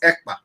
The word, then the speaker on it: Ekpa: And my name is not Akpan. My name is Ekpa. EKPA.